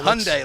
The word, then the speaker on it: Hyundai: is it Hyundai Hyundai Hyundai like Sunday Sunday but with an H uh it happens to